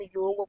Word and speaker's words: योग: तो हमको ये समझना चाहिए, पहले तो हम योग को योगा ना बोलें, कोशिश करें। देखो, योगा भी बोलेंगे तो अर्थ तो नहीं बदल जाएगा, अर्थ तो वही रहेगा, लेकिन फिर भी कोशिश करें हम लोग शुद्ध उच्चारण करें।